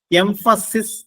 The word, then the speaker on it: emphasize: എംഫസിസ് എന്ന ഒരു word ഉണ്ട്. EMPHASIS. EMPHASIS. അതിന്റെ ഉച്ചാരണം ശ്രദ്ധിക്കുക. എംഫസിസ് എന്നാണ്. അത് നൗൺ ഫോം ആണ്. ഊന്നൽ, ഊന്നിപ്പറയൽ, പ്രാധാന്യത്തോടെ പറയൽ. ആ ഡിഫറൻസ് നിങ്ങൾ മനസ്സിലാക്കാം. വെർബായിട്ട് ഉപയോഗിക്കുമ്പോൾ എംഫസൈസ് എന്നാണ് അതിന്റെ ഉച്ചാരണം.